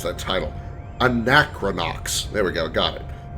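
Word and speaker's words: Anachronox: And I just finished an Anacron Anacronax. Anacron. I saw I saw you playing it for a while. I can't pronounce that title. Anacronox.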